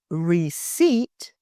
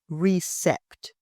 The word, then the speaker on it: receipt: It's receipt, not recept.